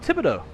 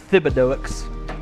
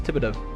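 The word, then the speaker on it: Thibodaux: at all right here you go oh Tibido that's what TBD is t h i b o d a ux a lot of think a lot of folks think it's uh pronounced Fido but it's Tibido you know you got that uh cage and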